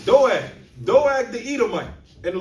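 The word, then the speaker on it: Doeg: Doag." Doag the Edomite. And the Lord be funny sometimes. His name is spelled D O E G. All right. You see, like we say with dogs, Doag the Edomite, right?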